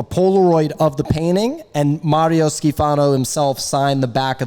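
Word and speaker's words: Mario Schifano: His name is Mario Skifano. Yeah, I mean, look. You have to roll your R's.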